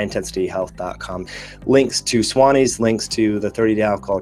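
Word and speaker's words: Swannies: to check out the Swan ease blue blocking glasses just go to Swan ease glasses calm Suwannee is spelled SWA n.n IES so it's Swan ease glasses calm and if you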